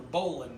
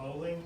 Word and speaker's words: bowline: I still remember the bowline knot, and that's about it. The bowling knot? Bowline. Bowline. It's spelled bowline, but we pronounce it bowline.